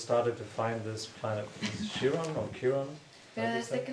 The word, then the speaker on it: Quirón: but since the astrologers started to find this planet Chiron or Chiron, Pero desde que los astrólogos han encontrado estos otros planetas, ¿es Quirón? how do you pronounce it? ¿Cómo lo Chiron? pronunciáis? Quirón.